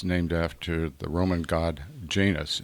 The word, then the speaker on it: Janus: after the Roman God Janus j a n u s sometimes pronounced Janis but still spelled j a n u s and the god at